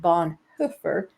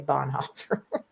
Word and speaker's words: Bonhoeffer: and believe it or not his name is pronounced Bon hoofer which nobody pronounces because we're all American and we say Bon Hofer but uh yeah I think it came out